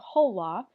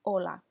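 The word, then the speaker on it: hola: repeat on Ola okay so in Spanish when you have the letter H at the beginning of a word like you do right here you do not pronounce that letter H so you do not say whole law and just say Ola and then over here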